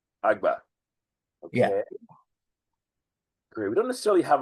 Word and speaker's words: Agba: GBA I'm gonna type it how do you pronounce it agba agba great we don't necessarily have a logo but